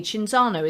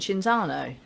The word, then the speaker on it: Cinzano: is the sounds cheer are you telling me chinzano isn't shinzano now it's only got one c is it cinzano i've always called it ginzano let's have a